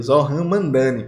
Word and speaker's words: Zohran Mamdani: lá de Nova York, que é para não pronunciar o nome dele errado, o Zohran Mamdani. Acho que é assim, né, gente? Zohran Mamdani.